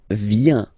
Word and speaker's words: viens: So, the first form is je viens. Je viens, okay? Remember this I, viens, viens, and then this nasal, final S not pronounced.